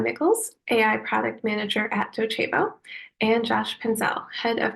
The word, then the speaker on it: Docebo: Joining me today, we have Maija Mickols, AI Product Manager at Docebo, and Josh Penzell, Head of Custom AI Solutions here at ELB Learning.